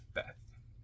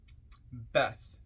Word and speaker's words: Beth: at hand comment on Beth Or bet Beth b e t h pronounced Faith transcribed as B the